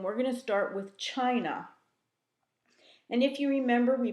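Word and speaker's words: Qin: history after the Cho Dynasty there was the Chin Dynasty qyn is pronounced chin it was most likely the shortest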